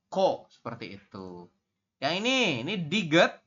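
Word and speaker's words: 코: Jadi ini teman-teman bacanya langsung KH ditambah dengan O, jadi dibacanya ko.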